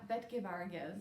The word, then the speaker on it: BetGevargiz: Yeah, BetGevargiz.